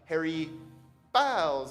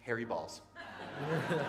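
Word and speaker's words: Harry Baals: At one point, a reporter tried to remix his name and called him like Harry Bs or Bales. And Harry Balls called him and said, "My name is pronounced Harry Balls."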